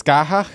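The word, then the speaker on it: Scáthach: I guess Skahach is technically Scottish. That's how you pronounce it.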